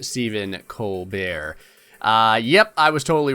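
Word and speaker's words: Stephen Colbert: letting me know that it is pronounced Stephen Co bear uh yep I was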